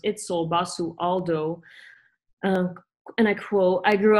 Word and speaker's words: Itzel Basualdo: This outsider is head curator, Itzel Alexis Basualdo, commonly pronounced Itzel Basualdo.